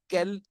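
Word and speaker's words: quel: के साथ एंडिंग है, all will be pronunciated as kel, but their usage in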